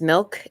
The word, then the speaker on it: MILCK: is connie lim and my artist name is milk and it's spelled m-i-l-c-k it's my last name